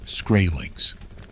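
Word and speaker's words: Skrælings: The Norse called these people scrailings, which is pronounced scrailings.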